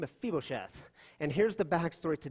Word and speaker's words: Mephibosheth: left Mephibosheth that's how you say his name a feeble chef and here's the backstory to David and Mephibosheth